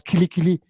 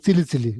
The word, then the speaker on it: kili kili: You're supposed to pronounce kili kili. He says, he's saying silly silly.